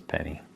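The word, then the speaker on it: Peni: I pronounce that right ni you go Penny it is Penny oh Penny p Parker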